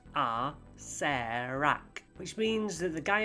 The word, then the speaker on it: Acererak: In the pronunciation guide, in Tomb of Annihilation, it says it's pronounced Acererak, which means that the guy at the end must be called Rarak.